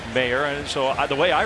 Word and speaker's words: Mayer: his last name m-a-y-e-r people ask how do you say that you say it mayor like mayor and so the way